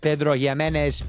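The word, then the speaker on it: Pedro Ximénez: Uh this stuff is uh finished in Pedro Jes.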